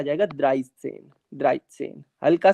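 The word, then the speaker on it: dreizehn: इसके बाद ये 13 जो है ये आ जाएगा द्राइस सेन।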